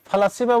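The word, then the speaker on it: فلاسفة: ফলাসিফা বলতে ফিলোসফি, এই যে এখানে যে শব্দটা আমরা দেখছি আর কি, ফালাসিফা, এটা ফিলোসফি ইংরেজিতে, আরবিতে ফালাসিফা এরকম উচ্চারণ হয়।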